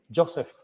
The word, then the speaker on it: Joseph: la implementación del New Health en el hospital Joseph, así se pronuncia, Lister, de la ciudad de Seguí en